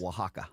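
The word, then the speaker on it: Oaxaca: Pablo pablano Peppers uh how do you say Oxana cheese waka waka cheese yes I know know save yourself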